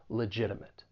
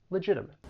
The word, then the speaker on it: legitimate: from the United States, I will pronounce it as a flap T, which is going to sound like a soft D. Legitimate. Legitimate.